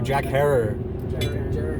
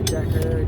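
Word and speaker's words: Jack Herer: Herrera. Oh no, Jack Herrer. Jack Herrera. Yeah. Jack Herrer. Say it right.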